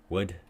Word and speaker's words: would: So we can hear this in took, or good, put, bush, wolf, woman, would, should. Notice that the would, should, we don't really say the the L sound.